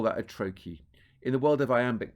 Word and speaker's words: trochee: If I could write it, I Is would it be like writing Trochee? Trocchee. Trochee.